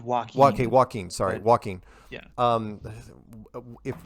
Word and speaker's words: Joaquin: interesting to see if jacqueline i'm sorry is it am i am i pronouncing that right i i i pronounce it walking sorry walking yeah um